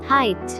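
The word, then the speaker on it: height: হাইট, হাইট, উচ্চতা, সর্বোচ্চ মাত্রা। হাইট, উচ্চতা, সর্বোচ্চ মাত্রাতা। এখানেও জি এইচ দুটি লেটারই অনুচ্চারিত থেকে যাচ্ছে।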